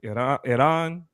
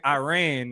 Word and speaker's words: Iran: It is pronounced Iran. I'm sorry if it come an accent because I'm trying to say it right because calling it Iran is the same thing as being like Mexicans Arabs.